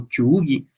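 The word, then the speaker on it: 忠義: y por último, quiero tocar también otro de el séptimo valor de los samuráis, que es la lealtad, chugi, o chugi, más bien pronunciado en japonés, y dice A ver, dínoslo en japonés.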